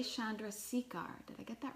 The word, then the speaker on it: Chandrasekhar: Chandrasekhar. Did I get that right? Close. Chandrasekhar. Darn it! Darn it! Pretty Okay, damn good, though. Chandrasekhar. I can spell it because I've been spelling it for a while now.